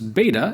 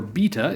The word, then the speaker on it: beta: Next comes Beta if you're an American English speaker, or Beta if you're some kind of British.